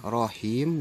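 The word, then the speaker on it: رحيم: adalah panjang dikarenakan mati Awas hati-hati buat bacaannya Rohim disini heem heem nya panjang tapi jangan mendengung bisakan Bismillahirrohmanirrohim enggak boleh tapi dibacanya harus Bismillahirrohmanirrohim jadi minimnya tetap ada tapi Minggu jangan dipanjangkan yang panjang adalah him nya yo yah jadi itu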